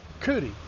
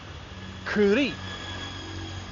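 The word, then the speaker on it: kurī: For example, some people say uh curi for a dog. A dog is a curi. But there is a macron. And so the word is actually kuri.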